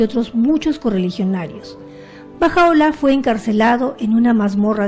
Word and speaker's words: Bahá'u'lláh: debe ser un hombre un poquito difícil de pronunciar por nosotros no se pronuncia baja ola Qué significa la gloria de Dios en varios escritos del Back hay referencia que baja ola era El mensajero divino